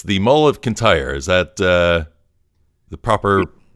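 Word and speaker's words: Kintyre: it's it's actually take if we if we want to get really picky and technically is can tire uh some marks from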